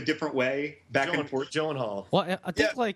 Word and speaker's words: Gyllenhaal: I'd be did you see that beard on Jake Gyllenhaal?